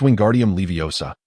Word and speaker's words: Wingardium Leviosa: It's Wingardium Leviosa. The Gar must be enunciated clearly.